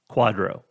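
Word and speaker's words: QDRO: order the initials are QD o and it's pronounced Quadro the quadro is an order signed by the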